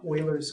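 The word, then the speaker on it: Euler: after someone it's called Oilers constant and he's German so his name is spelled you might think when I say Oiler it's o in German euu is an oi sound so this gu's name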